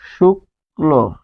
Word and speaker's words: শুক্ল: তাহলে এরকম শুক্ল শুক্ল তাহলে এটি কি হবে? শুলো শুক্লো।